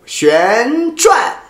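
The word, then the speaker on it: 旋转: So in that sense, you want to pronounce as the di si sheng, fourth tone.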